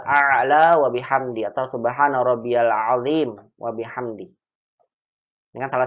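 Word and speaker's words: ربي العظيم: Contoh ini subhana rabbiyal azim dibacanya rabbiyal, bukan rabbi tapi rabbiyal azim.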